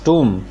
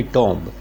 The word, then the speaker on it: tomb: तो इन्होंने इनके टूम को, ये this is the pronunciation of the word TOMB. The word is called टूम. जैसे WOMB वूम होता है, और TOMB टूम होता है, ना कि टॉम्ब.